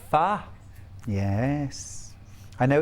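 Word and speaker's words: phở: It's pronounced pho.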